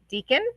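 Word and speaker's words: Deakin: literature and culture in Deacon did I at least say that right yep that one's right okay Deacon University of Melbourne um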